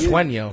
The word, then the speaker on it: Sueño: Does that mean you have got to Swinger Realty? Sueño. I like that. Sueño. You've got to Sueño. spell that one for It people.